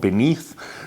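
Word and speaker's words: BN3TH: I like a company called Beneath. It's spelled B-N, the number 3, then T-H.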